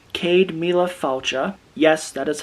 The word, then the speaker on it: Céad Míle Fáilte: But what this says, Céad Míle Fáilte, yes, that is how you pronounce it, is Irish for 100,000 welcomes.